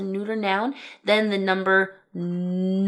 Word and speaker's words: neun: Then the number 'neun' (9). Right where we get that 'oy' sound in there.